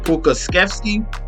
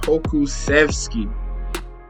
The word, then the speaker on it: Pokusevski: Pokey, Alexei Pokusevski. I don't even know if I said it right. Let me try it again. I know it's Alexei, and then we're gonna say his last name, Pokusevski.